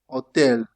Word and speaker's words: hotel: You see the H is silent. When you have like this you just pronounce it a and it appears usually in foreign words as you saw. Hotel. Hotel. You forget about the H. Hotel. Hamburger. Hamburger. You forgot about the H in Italian.